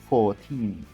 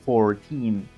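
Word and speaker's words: fourteen: For British, you must pronounce non-rhotic and it sounds 14, 14, 14. Remember that the final syllable is stressed and pronounced with a smiling E. Now, for American, we have rhotic pronunciation and it sounds 14, 14, 14.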